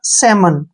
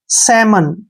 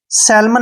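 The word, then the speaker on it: salmon: इसको पढ़ेंगे हम सीधा सेमन क्या पढ़ेंगे सेमन सेलमन नहीं पढ़ना है सेमन क्योंकि एम से पहले एल आया है अब रूल नंबर टू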